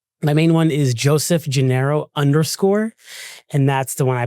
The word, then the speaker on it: Gennaro: How do you say your last name? Joseph Janeiro. Janiro. Yeah, it's Italian, you know, but I'm not tell.